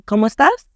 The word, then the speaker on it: cómo: Just remember the accent on the O in como. It gives a slight emphasis to the sound. Try saying ¿Cómo estás? Once more, emphasizing the O a bit.